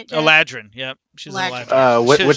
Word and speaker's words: Eladrin: There we Eladrin? Is that how you say it, Jack? Eladrin, yep.